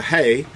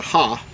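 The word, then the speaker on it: ה: second letter here is in modern Hebrew is referred to as a hey but in ancient Hebrew you would pronounce it as a ha but uh that's the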